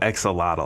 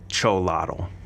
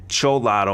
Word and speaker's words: Xolotl: I call it Exolotl. I know that's not how you say it. I think it's pronounced Cholotl.